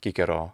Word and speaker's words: Cicero: as far away as cicero is from the actual pronunciation of his name in the time that he lived which was kikero the spellings of those